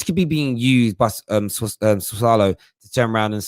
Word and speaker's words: Sassuolo: The reason you put this cheeky bid in for Locatelli is I can never pronounce the name of their team. It's Sassuolo.